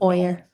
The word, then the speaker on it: Boyer: to say Ewer, but I know it's not how to pronounce it. But Boyer.